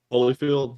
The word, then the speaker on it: Holyfield: And then when he came back after he bit off Holyfield's ear, Holyfeld's, oh man, I can't pronounce that name. What's that guy's name, Matthew? Holyfield?